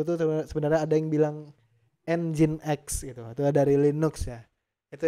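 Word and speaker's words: nginx: aja tulisannya gini ya jadi bacanya bukan -x nih hati-hati loh yang ngomongin X nanti saya kasih ini loh saya kasih nya engine X ya nah seperti ini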